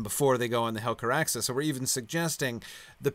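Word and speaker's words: Helcaraxë: Now, as to their preparedness for the Helcaraxa, how do you pronounce that? Helcaraxa, that's just right.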